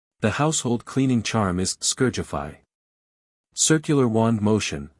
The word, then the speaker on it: Scourgify: The household cleaning charm is scourgify. Circular wand motion. Emphasis on the second syllable.